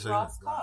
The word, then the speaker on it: Rass Kass: Rass Kass. Yes. That's the You proper like pronunciation.